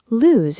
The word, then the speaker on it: lose: Lose has a z sound. It sounds like shoes. Loose has an s sound. It sounds like goose.